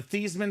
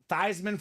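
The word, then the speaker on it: Theismann: of that thasan name in comes the Notre Dame PR staff and they decided to to change the pronunciation of his name you know why because he was a Heisman Contender they said let's get thyman for the Heisman it worked kind of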